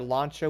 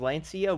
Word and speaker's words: Lancia: finally end up unlocking the launcher, which I think that's actually the proper way to say it. Funny thing is, forever I've been saying Lancia, which is, yeah, not the right way to say that.